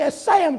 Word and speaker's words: Assam: It was called the Assam tribe. If I'm saying it right, it was spelled A-S-S-A-M. If I ain't pronouncing it right, you can correct me later.